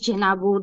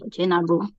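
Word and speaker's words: Djenabu: The name is Jenabu. The D is silent, so you start with the J, Jenabu.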